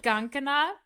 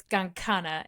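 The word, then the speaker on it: Gancanagh: boy so this word I've been pronouncing it Gana but after speaking with Jenny it's gangana and I just forgot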